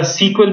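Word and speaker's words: SQL: एसक्यूएल क्या है और एसक्यूएल को कई जगह सीक्वल भी कहते हैं, इस तरीके से इसका प्रोनाउंसिएशन होता है CSE क्वेल।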